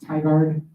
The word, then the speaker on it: Tigard: will be in I want to say it's pronounced Tigard or Tigard Oregon uh in the Portland Oregon